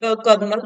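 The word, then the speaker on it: colonel: And this is left hand we pronounce it kernel but it is basically written like this.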